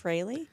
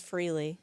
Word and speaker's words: Frehley: Is his his last name is pronounced Freley. Freley. Yeah. Like Freley. I thought it was Freely and millions of others.